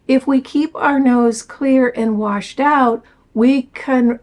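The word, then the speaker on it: Xlear: This is something called Clear, and it's spelled X-L-E-A-R, but it's pronounced Clear.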